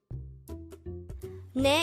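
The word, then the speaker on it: 네: of saying yes ne is composed of just one syllable which is formed from the combination of the sounds of nian and e and with that you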